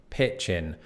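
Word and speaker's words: pitch-in: it does apply to this word pitch in which is easy to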